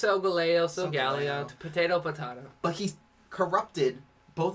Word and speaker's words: Solgaleo: I keep pronouncing it wrong. It's Solgaleo, potato.